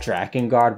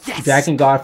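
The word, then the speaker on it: Drakengard: Vibes but more so dragonard Vibes that's how I pronounce it I don't know is it dra and guard ew Dragon guard for those who don't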